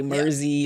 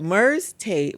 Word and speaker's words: Merze Tate: So, Merze Tate, people sometimes you see the name, you don't even know how to pronounce it. Some people say Merzy or Mert Tate. But Merze Tate was someone I learned about when I was a reporter at the Kalamazoo Gazette.